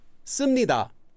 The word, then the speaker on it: 습니다: And if it ends with a consonant, then you'll attach 습니다, 씁니다. So 습니다, pronounced as 씀 with this letter, 미음, 씁니다, due to sound change rules.